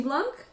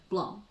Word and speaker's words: blanc: Yes, but pronounced blanc. Blanc, not blanc. Of course. So all I need to do is to remember to drop the last letter of a French word as long as it's a consonant.